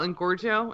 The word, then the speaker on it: Engorgio: But what if you use, what is that spell, Engorgio? Is that how you pronounce it? Yeah, Engorgio.